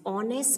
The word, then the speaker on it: honest: is an honest man honest spelling is h-o-n-e-s-t but the h is silent and we say honest